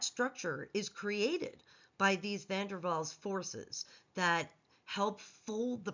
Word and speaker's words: van der Waals: van der Waals was of German descent, and therefore the W gets pronounced as a V.